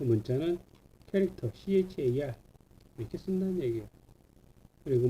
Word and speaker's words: char: CHAR 이거를 차라고 읽으면 안 돼요. 무식한 거예요, 그거. 이거를 차 그렇게 읽으면 아주 무식한 거니까 여러분 절대 그렇게 읽으면 안 돼요. 뭐라고 있냐? 얘는 캐릭터라고 있습니다. 캐릭터.